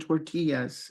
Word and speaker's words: tortilla: And you might ask the clerk, for example, where can I find tortillas? And we do pronounce it tortilla, even in English.